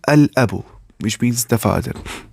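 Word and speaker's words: الأب: Then lam of alif lam will be pronounced, because huruf qamariyah are not pronounced with tip of tongue, but lam is pronounced with tip of tongue.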